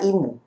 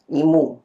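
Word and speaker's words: 忌む: Ini bacanya imu. Imu ya.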